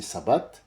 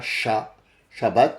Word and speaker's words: sabbat: Ah bah demain, c'est sabbat. Oui oui oui, ça se prononce comme ça Sabbat non pas chabbat c'est c'est eux qui prononcent enfin eux c'est c'est nos amis qui disent shabbat. Shabbat c'est sabbat.